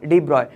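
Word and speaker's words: de Broglie: Start करते हैं डी ब्रॉगली से। चलिए, हम बात स्टार्ट करने वाले हैं हमारा डी ब्रॉय। ठीक, कई जैसे जो इसका प्रोनाउंसिएशन इन साइंटिस्ट का डी ब्रॉय होता है, कई लोग इसको ब्रॉगली बोलते हैं और कई लोग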